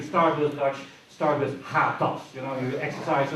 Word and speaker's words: HTAS: So HATAS, you've read it probably, you may not have known how to pronounce it, but this is the way it's pronounced in Holland.